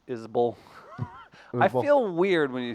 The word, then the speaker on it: Isbell: Everyone does it, but he pronounces it Isbell.